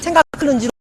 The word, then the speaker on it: 생각할는지: 발음상 리을이 우리가 여여 있으면 보통은 오는 니은이 리을로 발음을 합니다. 그래서 생각할는지로 우리가 리을 는지로 소리를 내지만 적은 른지가 아니라 는지라는 거에 대해서 유념하시기 바랍니다.